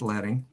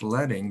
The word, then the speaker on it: leading: points with 36 point leading and leading is the way you pronounce that word not leading is leading because if this is lead type that and the leading